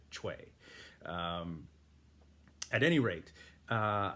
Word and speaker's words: Choi: we knew any better general choi hong he i understand the actual korean pronunciation is something more akin to chway um at any rate